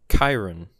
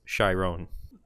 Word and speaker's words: Chiron: his name is pronounced Chiron when I was pronouncing it Chiron like the Centaur trainer of Heroes in Greek